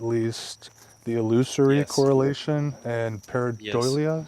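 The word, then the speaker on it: pareidolia: the illusory correlation and peridolia is that how it's pronounced paradolia yeah yeah so I mean you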